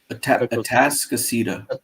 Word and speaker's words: Atascocita: How do you pronounce that? Atascocita. Atascocita. Yeah. Tasca and then Cita.